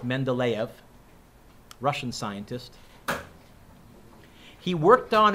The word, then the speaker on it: Mendeleev: make sure i spell it right it's not pronounced men to leave it's pronounced mendeleev russian scientist he worked on it for a